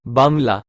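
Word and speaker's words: बंगला: at Raja J Singh's bangalo pronounced Bangla in Hindi and Punjabi which has now been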